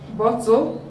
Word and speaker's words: bottle: Bottle, when you transcribe bottle, you have two syllables, bo and tol. But because this one is a syllabic consonant, we cannot stress it. So the stress is on bo.